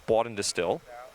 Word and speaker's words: Bawden-Distill: That's 4 syllables if you're counting. Yes, Bawden-Distill. I'm pretty sure I'm pronouncing that the right way.